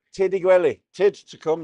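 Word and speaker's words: Tyrd i'r gwely: And she said, Tiddy Gwelly.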